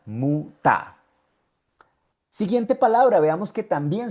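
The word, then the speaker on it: Mutter: Y como el ER está en la última sílaba, por eso es que suena muta.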